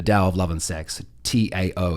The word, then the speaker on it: Tao: Tao, it's spelt, but it's pronounced Tao.